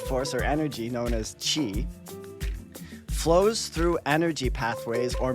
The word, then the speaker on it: qi: type of life force or energy known as qi, which is pronounced qi, so I pronounced it wrong just then. A type of life force or energy known as qi flows through energy pathways or meridians in the body.